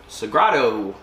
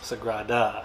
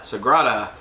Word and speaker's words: Sagrada: So today we have Sagrado. Sagrada. Sagrada. I never knew how to pronounce this until Charlie looked up the correct.